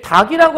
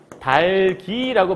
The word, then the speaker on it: 닭이: 싶을까 이런 얘기하는 거거든요 근데 닭이라고 하면 안 돼요 원래는 어떻게 된 거냐면 닭 2라는 글자인 건데 이럴 때는이 뒤에 조사가 왔을 때 얘가 이렇게 그대로 넘어가서 최종 발음은 달기라고 발음을 해야 되는 거거든 그러니까 얘 하나 있을